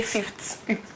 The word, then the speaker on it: fifth: chall small summer break you forgot how to pronounce fifth is not faith I still heard you say fith well yes but then here we say fifth F okay the fifth yeah